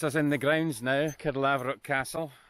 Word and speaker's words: Caerlaverock: pronouncing that castle name so i think you've got it right now haven't you card lava rock down there that's us in the grounds now kid lavrov castle it's a national